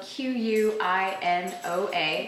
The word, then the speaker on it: quinoa: you go our next one is quinoa spelled q-u-i-n-o-a and pronounced quinoa it's an ancient grain from South